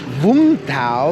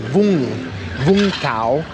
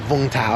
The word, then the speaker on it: Vũng Tàu: So the city's actually pronounced Vung Tau, like Vung Tau. But a lot of the, the anglicized pronunciation sounds like Vung Tau. Everybody says like V-U-N-G, but the Vietnamese don't pronounce it that way.